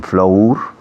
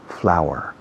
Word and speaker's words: flour: Y dicen flour para harina, cuando la pronunciación es igual que el habla flor. Flower, flower, flower.